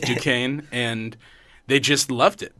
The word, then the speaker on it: Duquesne: name is dick Duquesne like the street in culver city that spelled do quiz knee that's pronounced Duquesne and they just loved